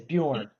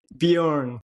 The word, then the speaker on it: Bjorn: Did I get your name right? Thanks, Johnny. Um, yes. Is Bujorn. Bejorn. Got it.